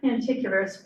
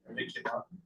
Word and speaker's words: paniculata: Pan- It's not paniculous, pan- Any people? No. Anyway, it's a hydrangea that has a pointy spike Paniculata. There you go.